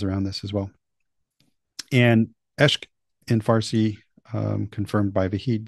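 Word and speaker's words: عشق: And that word is, if I'm going to try to pronounce it, I'll pronounce it poorly, is eshk. The Arabic is eshk with a Q, as far as I understand.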